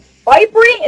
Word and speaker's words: Fyprie: Today I'm talking on Discord with Salty Squid 17 and Fyprie?